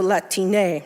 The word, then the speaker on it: Latine: Something a little more easy to pronounce in Spanish, the A, so Latine, right?